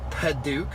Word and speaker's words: padauk: tinted windows this has got red of the paduk which is how you say that um tan